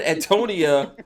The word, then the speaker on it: Antonia: Just don't call me Antonio anymore. That's all I ask. Okay. I'm telling you, I said Antonia, but the A is silent. It rolls off my tongue and then drops.